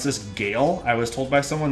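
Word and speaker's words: GeIL: supposed to pronounce this Gail I was told by someone that works with them so I think most people would say G but Gail might be the right way to say it and this is Orion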